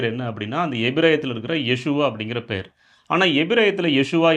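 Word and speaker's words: ישוע: பிரியமானவர்களே நம் எல்லாருக்கும் தெரியும் எபிரேய மொழியில இயேசு என்கிற பெயர் எப்படி உச்சரிக்கப்படுகிறது யேசுவா என்று உச்சரிக்கப்படுகிறது. இந்த யேசுவா அப்படிங்கிறது நம்ம தமிழ்ல யோசுவா என்று அழைக்கிறோம்.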